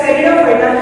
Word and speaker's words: Pteridophyta: Whereas Pteridophyta, here P is silent.